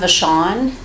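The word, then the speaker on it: Vachon: the court reporter please my name is Vashon that's spelled c r y s TI i n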